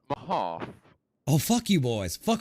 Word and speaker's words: Mehoff: Sir, it is pronounced Mahoff.